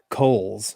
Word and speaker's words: Cowles: Yeah, I thought it was Cowles, and then I think his Twitter handle says Coles, like, and he phonetically spells it out.